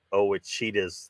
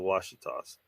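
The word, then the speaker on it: Wausau: far from the wasas somebody somebody pronounced it OAS the other night oh my God wasas it's the wasas um you know that's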